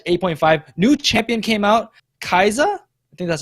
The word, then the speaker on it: Kai'Sa: So patch 8.5, new champion came out, Kaiza. I think that's how you pronounce it. Kaiza, That is yeah.